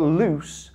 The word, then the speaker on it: loose: The word lose with the ending z, but loose has a s.